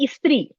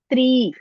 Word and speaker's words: स्त्री: And here also, you're telling istri. That is, I don't know Hindi way to do. Just tell, E is not there, no. As it's written, you have to pronounce. Stri.